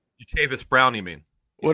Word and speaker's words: Jatavis: Jatavis Brown. You mean? What did I say? Jatari? Jatari Brown? I don't know. I think I was combining two names there. Yeah. Jatavis Brown. Jatavis Brown. Correct.